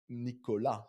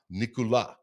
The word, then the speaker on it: Nicolas: Another thing was Nicholas, your name in French is Nicolas. Nicolas. Yeah. Spelled like Nicholas, but typically they drop the sound of the last letter.